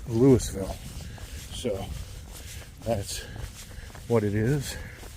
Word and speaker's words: Louisville: So, but yeah, this is in Louisville, Ohio. And yes, it's spelled just like they spell Louisville in Kentucky, but in Kentucky they pronounce it Louisville. But here we pronounce it as Lewisville.